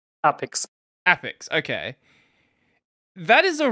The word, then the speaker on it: APX: APX.